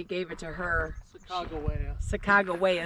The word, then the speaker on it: Sacagawea: Springs um it was saak jaia they gave it to her Saga Sago waya is really how you're supposed to pronounce it but they um she